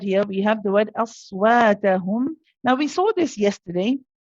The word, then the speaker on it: أصواتهم: See the wa sounds heavy now. You want it aswa.